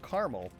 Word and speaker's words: Carmel: I seem to recall a place called Carmel.